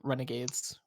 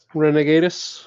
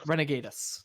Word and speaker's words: Renegatus: is winning for the Renegades, or how was that pronounced again? Renegatus. Renegatus. Yes, Team Renegatus.